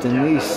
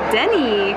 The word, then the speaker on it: Denis: Oh, we pronounce it Denise. Yes, actually we pronounce it Denny in France.